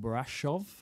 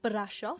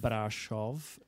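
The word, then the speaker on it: Brașov: the train from Bucharest have I said it right brov brov it's spelled Brasov but yeah brov yeah so b r a s oov which is a really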